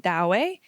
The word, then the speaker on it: Douwe: People who are Dutch pronounce it Douwe, and people who are British pronounce it Do. Okay. My audiobook reader pronounces it Douwe. So I'm assuming that if we could go back in time and ask him, then it would be Douwe Mount Vandermeer.